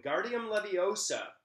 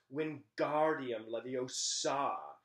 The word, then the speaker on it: Wingardium Leviosa: much more luck when guardium leviosa ron shouted waving his long arms like a windmill you're saying it wrong harry heard hermione snap it's wingardium leviosa like the gar nice and long then you do it